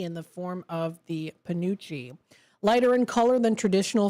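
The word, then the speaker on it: penuche: We've got National uh Pous, is that how it's pronounced?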